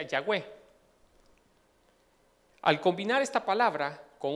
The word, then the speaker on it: Yahweh: Y me parece interesante poderle decir por qué Yahweh, porque solo son unas letras que no lleva vocales, que es la letra YHWH, y se pronuncia Yahweh.